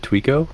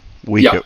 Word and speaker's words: Weeko: Is it Tweeko, right? Weeko. Yeah. Just call him Weeko.